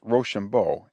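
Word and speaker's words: Rochambeau: our watchword was roshambo the commander of the French forces's name for being pronounced roshambo it sounded when pronounced quick like Rush on boys we had not lay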